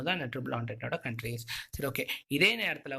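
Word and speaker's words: Entente: Thus form the triple என்டென்ட் of Britain, France and Russia, Britain, France இவங்க 3 பேரும் ஒரு team பேர் தான் ட்ரிபிள் ஆன்டென்ட். இது ஆன்டென்ட் நம்ம ப்ரொனவுன்ஸ் பண்ணோம். என்டென்ட்லாம் ப்ரொனவுன்ஸ் பண்ணக்கூடாது. ஆன்டென்ட், ட்ரிபிள் ஆன்டென்ட். ஓகேவா?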